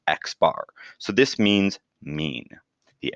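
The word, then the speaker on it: x̄: X with a line on top which is pronounced X bar so this means mean the arithmetic average and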